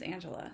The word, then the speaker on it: Angelia: simpler than that and it is Angela so the ey is silent um I am not